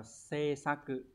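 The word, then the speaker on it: 制作: từ này đọc là gì đây từ này đọc là C sa cự đấy C xá cự này có nghĩa là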